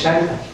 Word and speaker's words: Xalpan: Yo le digo Jalpan porque ahora que cambia la pronunciación de la X, pero me dicen, no, es Xalpan. Y efectivamente es así, Xalpan, ahí estaba el barrio de Xalpan.